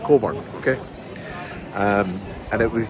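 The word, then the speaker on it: Cockburn: Coburn. C O C K B U R N. But it's pronounced Coburn.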